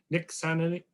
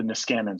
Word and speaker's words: Niskanen: That was Joseph Makyot from the Nixian. How do you say the name of your institution? Joseph Mikett at the Niskanen Center.